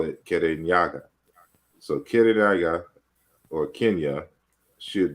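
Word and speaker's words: Kirinyaga: our people pronounce it it sounded to the Europeans like Kenya so in a geography books it is Kenya but we still call it kerenyaga so Kennedy or Kenya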